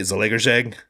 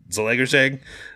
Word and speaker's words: Zalaegerszeg: This is definitely coming from, how do you say, Zalaegerszeg? That's how you call it. That's how you pronounce it. I don't think Hungarians pronounce it that way, but Zalaegerszeg, ZTE.